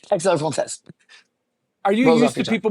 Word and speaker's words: à la française: Eggs La France. You have inspired my wife to perfect it. I know I didn't say it right. Can you help me? How do I say it? Eggs à la française.